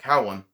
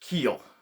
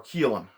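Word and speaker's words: Caolan: to me looks like Cowan uh is pronounced Keel or Keelan or Keelan uh it's kind of hard to get a feel for the Celtic spelling it does appear to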